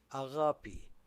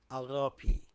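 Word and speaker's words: ⲁⲅⲁⲡⲓ: Agapi Agapi means love. Agapi.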